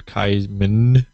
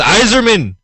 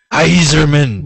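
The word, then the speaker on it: Yzerman: Detroit roring Steve Yer kaisman whatever it was that he pronounced it horribly wrong it's Eiserman iserman you just call him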